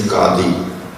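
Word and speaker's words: qadi: headed by them International the correct pronunciation is kadhi and uh wasn't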